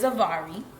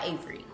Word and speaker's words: Avary: My name is Avari, but I go by Avery cuz it's just easier for people to pronounce and to say.